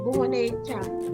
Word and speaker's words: boneca: Bacanya gimana ya? Boneca.